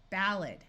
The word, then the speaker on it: ballad: Like in this word, this A will schwa to be a muffled sound, ballad.